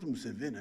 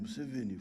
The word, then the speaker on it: Museveni: I'm not Museveni, I am Museveni, flat.